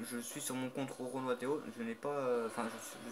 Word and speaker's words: RoronoaTheo: Donc pour ceux qui veulent m'ajouter au cas où sur PSN, le compte que j'ai c'est Roro Noateo. Donc comme ça se prononce, hein, RORONOATHEO. Pas d'accent, rien.